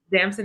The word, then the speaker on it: Damson: like working with how and i might not pronounce it correctly is it damson it's just damson it just yeah you said it great he's